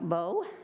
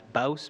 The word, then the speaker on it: Bouse: He is the HR management, and his name is Bowe. Am I pronouncing that correct? Bow, maybe? It's Bouse, but with a kind of like a house, but with a B.